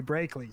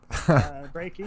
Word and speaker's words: Brakey: Everybody seems to add an L and say Brakely. So hats off to you for saying Brakies. Brakey, appreciate that.